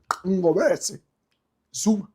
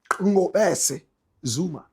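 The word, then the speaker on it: Ngobese-Zuma: I hear the correct pronunciation of the name, Ngobesi Zuma. Ngobesi Zuma.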